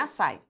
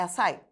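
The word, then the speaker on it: açaí: duas vogais juntas por exemplo açai não é açai é açai o i ficou aai ai ai não o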